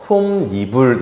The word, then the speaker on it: 솜이불: 그래서 솜 더하기 니은 더하기 이불에서 솜니불 이렇게 발음합니다.